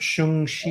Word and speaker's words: Shang-Chi: It's pronounced Shung-Chi.